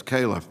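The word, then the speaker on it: Califf: you very much uh thank you dr kaufman being here today it's calif by the way haley kayla mine getting my name just mispronounced i understand yeah uh eighteen thousand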